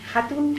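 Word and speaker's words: Jatun: Hatun. Hatun. Es que antes no he pronunciado la J y quedaba el apellido así un poco Hatun, ¿no?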